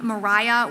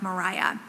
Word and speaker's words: Maria: have been pronounced um as if it were spelled with an H at the end like Mariah and Marita is more